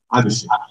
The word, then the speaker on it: Abhishek: Do you pronounce it right? Abhishek.